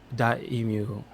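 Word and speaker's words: Dotemu: So they, I think it was Dot Emu. That's how you pronounce it.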